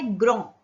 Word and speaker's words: grand: तो इसका एग्जाम्पल है ग्रो. GRAND, ग्रो. D pronounce नहीं होगा, तो ग्रो में मैंने एस लगा दिया तो प्रोनाउंसिएशन सेम है, मीनिंग भी सेम है.